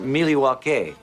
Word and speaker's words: Milwaukee: Actually, it's pronounced Miliwake, which is Algonquin for the good land.